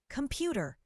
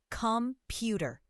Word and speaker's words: computer: Computer. The second syllable is stressed. Computer.